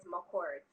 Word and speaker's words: Mchorgh: to say it wrong the last name is mccord my court see i would have